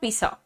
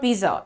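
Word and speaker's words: pizza: इट इज नॉट पिज़्ज़ा इट इज not anything it इज पिज़्ज़ पीज ज ज बोल लेते हैं आप लोग जरा सा शिफ्ट हो जाओ जरा सा नहीं जरा सा ज पर जोर डालिए ठीक है तो अब आपको क्या करना है पहले बोलना है पीट फिर बोलना है ज सो पीज पिज़्ज़ नाउ हाउ हाउ एम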